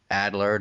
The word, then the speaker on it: Adlard: We've seen, Ryan Otley take over for Cory Walker, and we've seen Charlie, Adlard, or how do you say his last name? I think you got it. Adler.